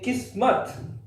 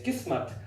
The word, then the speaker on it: Kismet: you are correct but in our part of the world we say kiss mutt it's a bit different it's not like you guys this kiss mutt I'm so very interesting